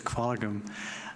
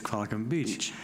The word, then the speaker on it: Qualicum Beach: Kevin, and I know some people wonder why when somebody says Qualicum, I correct them and say it's Qualicum Beach.